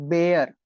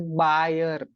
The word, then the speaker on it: Baer: is pronounced like this probably like beer but everyone in my vicinity pronounce it as buyer so I know it's